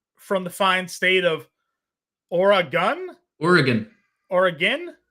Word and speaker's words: Oregon: the fine state of Oregon Oregon Oregon Oregon not Oregon Oregon Oregon Oregon organ or an organ like a body organ basically like an organ